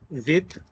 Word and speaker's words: with: और हो गया हमारा विद विद को आप विफ बोलोगे विफ क्योंकि बोलने का तरीका होता है अगर आपने इंडिया से बाहर कभी जाना तो विद मत बोलना कसम वो विफ बोलते हैं विफ आंत्राव खुशबू तो